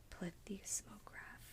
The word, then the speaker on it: plethysmograph: And for the final position for f, I have, oh, let me see if I remember how to pronounce this. Let's see. Plethysmograph. Plethysmograph. Yeah, that's how you pronounce it.